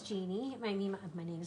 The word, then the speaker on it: Genie: I used to sign my name as Jeannie. My paintings, Jeannie, you know, like I dream of, like a genie in a bottle.